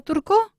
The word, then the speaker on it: turque: Turc. T-U-R-C. Ajá. Pero el femenino, aunque suena igual, turc, se escribe T-U-R-Q-U-E. Ah, o sea que Una cosa cambia es- la forma de escribirlo, pero Voilà. se pronuncia igual.